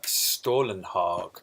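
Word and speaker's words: Stålenhag: of a sim on stolen hawk because that is how you say it and this is stolen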